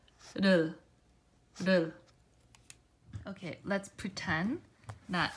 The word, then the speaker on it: 를: So it starts back a little bit, and then it's as if like some air is pushing it out, but just gently and softly you move it quickly, and then firmly ends by pressing it right above the upper teeth.